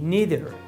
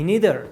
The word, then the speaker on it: neither: you can say me neither this is the correct way I don't like the pizza me neither don't confuse yourself with the pronunciation neither or neither it's the same which one you like